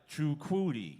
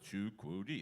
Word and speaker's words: Jaquede: and I was like Jaquede. Your name is not Michael. Well, the kids are having trouble saying my name. I said it's four syllables. Ja-que-de. It's three syllables, actually. Three Ja-que-de, like Ada, Ada, that whole notion of